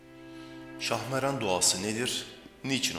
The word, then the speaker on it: Şahmeran: Şahmeran kelimesine çok benzeyen bir de şahmaran sözcüğü vardır ki bu ifade yılanların şahı anlamına gelir. Bu itibarla duanın ismini söylerken kesinlikle şahmaran ifadesi kullanılmamalı, şahmeran sözcüğünün doğru telaffuz edilmesine dikkat edilmelidir.